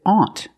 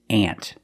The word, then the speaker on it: aunt: Use the short ah sound.